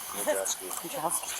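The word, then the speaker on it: Wojcieski: How the hell do you say that? Majeski. Just like it's spelled.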